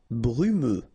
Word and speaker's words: brumeux: Brumeux. Okay, final X not pronounced, so you get this E and then U.